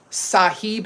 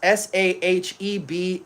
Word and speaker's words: Sahib: This fragrance is called um Sahib Intense. S ah he eb Intense.